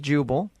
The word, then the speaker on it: Jubal: My name is Jubel, right? You got that? Jubel. How do you spell that?